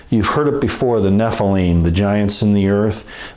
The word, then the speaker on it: Nephilim: The plural form is Nephilim. It's the I-M at the end sound, the eem sound at the end, that's plural.